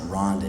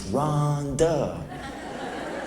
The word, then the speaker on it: Rhonda: Every single time I hear that name, Rhonda, I always just go, oh man, it's not, man, you're saying it wrong. It's not Rhonda, it's Rhonda.